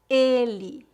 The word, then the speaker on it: ele: a diferença agora vamos praticar as palavras ela com e aberto e ele com e fechado repita depois de mim ela ela ele ele excelente a letra